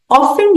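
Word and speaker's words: often: of adverb है और इसका उच्चारण करते वक्त टी जो है वो साइलेंट होता है प्रोनाउंस नहीं होता और स्ट्रेस पहले सिलेबल पे आता है तो हम कहेंगे ऑन ओ के ऊपर स्ट्रेस है ऑफ और ऑफेन का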